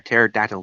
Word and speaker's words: pterodactyl: How come you can't hear a pterodactyl go to the bathroom? I don't know why. Because the P is silent.